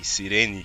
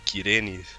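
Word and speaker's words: Cyrene: A Sirene, Kirene, pronuncia do jeito que você quiser.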